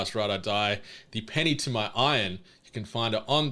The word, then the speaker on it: Ian: Saying the name Iron makes me feel gross. It should be Ian, but, Mythic Quest and the pronunciation of Iron, Rob McElhenney's character in that. Oh, I see. Makes me feel like a bit heebie-jeebie-esque, but that's just how they do it in the Americas, apparently.